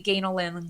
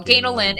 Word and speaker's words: Ganel: think that's why but phonetically if you see it spelled g-a-n-e-l it's phonetically ganolin long a so ganolin and it's hyphenated and